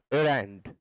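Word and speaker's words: errand: Question number 5, एरेंड, इसका सही pronunciation एरंड होता है, एरंड।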